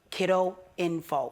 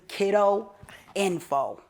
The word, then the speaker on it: Kidoinfo: Island Black Storyteller, and Kiddo Info. Spell it again for us. KIDOINFO. So it's exactly Kiddo Info. Kiddo Info. Just one D. That's One where D. people mess it up. People put two Ds.